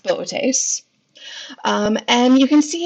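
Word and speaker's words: Boötes: and the constellation of the tastes I know it's spelled bootys but it's pronounced bit ace and you can see it's that kind of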